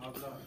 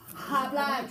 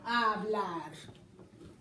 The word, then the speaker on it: hablar: You pronounced that H. You went, hablar. Yeah, you did. I heard it. Juanita, you heard it too, right? You heard that H.